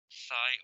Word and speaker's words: psi: Xi is how it is written, pronounced Sai or Zai. Psi or Xi.